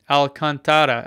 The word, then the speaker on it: Alcantara: there you go thanks for the questions folks Alcantara Elkin okay yeah there you go that's how